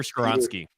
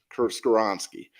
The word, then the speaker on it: Skoronski: I think if you want him, Paris Johnson, Broderick Jones, how do you pronounce his name? Peter Skoronski. Skoronski.